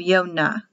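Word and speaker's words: יונה: yonah yonah it's latin jonah is the word for dove and the hebrew will have yonah this is latin because remember there is no jay in hebrew the roman catholics took out the y the power letter and replaced it with the j so the word power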